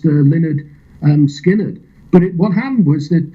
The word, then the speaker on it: Lynyrd Skynyrd: So you got Lynyrd Skynyrd up next, eh?